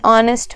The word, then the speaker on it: honest: a vowel exceptional case it is used before a word that begins with an H but when speaking the word h is silent an honest man and are similarly